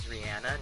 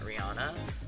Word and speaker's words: Rihanna: since I learned that the way you pronounce your name is Rihanna not Rihanna I have been doing